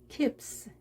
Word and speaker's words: keeps: keep, keeps. 자, keeps. 이때는 p가 소리가 떨림이 없습니다. 따라서 s도 떨리지 않게 강하게.